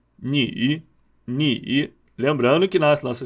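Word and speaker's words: 女: É o seguinte, uma mulher é ni, ni. Lembrando que na nossa segunda aula a gente vai focar mais nas pronúncias.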